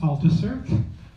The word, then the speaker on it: Althusser: Algeria and 1918 and the reason you pronounce his name where you actually pronounce the R which you wouldn't usually do in French is because his family is from the region of Alsace I'll sauces next to Germany and they speak a